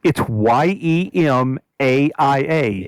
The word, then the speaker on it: Yemaia: No, I call it Yemaia because Maia is like Maya, isn't it?